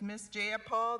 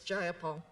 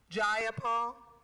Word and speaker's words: Jayapal: do you agree with miss j paul that there was no takeover it was just jayapal if you're going to say my name please say it right it's jayapal jayapal do you would you